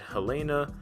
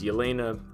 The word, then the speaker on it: Yelena: Belova, who a lot of people, sometimes they mispronounce it Helena as the Black Widow, but it's Yelena, and she is an interesting Black Widow because